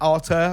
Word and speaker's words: Arthur: And then his brother Arthur, it's spelled Arthur, but it's pronounced Arthur, I believe, was also streaming as well.